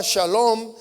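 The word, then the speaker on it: שלום: En hebreo, la palabra paz se pronunciaba shalom, pero esta palabra que era pronunciada ahí implicaba plenitud, implicaba bienestar, implicaba integridad y prosperidad.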